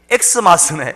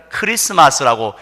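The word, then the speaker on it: Xmas: 그래서 우리가 쓸 때는 엑스마스라고 써도 무방합니다만은 읽을 때는 저처럼 이렇게 엑스마스네 이렇게 하면 정말 무식한 목사다 이런 소리 듣게 되어지니까 읽을 때는 크리스마스라고 읽으시면 됩니다.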